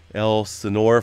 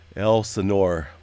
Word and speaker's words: Elsinore: Pretty deep, 11 to 12 kilometers there, just off the El Senor Fault. I'm going to get it right. I keep reading the comments on the correct pronunciation there of that, but Elsinore, right?